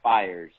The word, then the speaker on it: Fiers: right like that Rhino it's pronounced fires the last run procedure